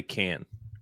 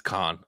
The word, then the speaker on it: Caan: I said James Caan, not Con. I mean, it could be Can. I've just always pronounced it Con. I'm having a moment like you did. It's Con, 100%.